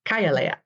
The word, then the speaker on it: Kay'aleya: I always say your name wrong. Say it for me. I'm going to have to redo this. Kay'aleya.